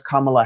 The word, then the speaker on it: Kamala: him commandingly and said my name is kamla Harris she pronounced his her name to him so that he couldn't get it wrong and in all and